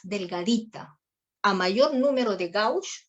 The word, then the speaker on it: gauge: Viene diámetro de las agujas que se mide en G, que se pronuncia gauge, ¿ya?